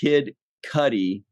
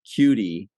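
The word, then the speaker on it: Kid Cudi: ruining my orange joke and he says it's pronounced kid Cuddy not cutie it kind of sounds like poop I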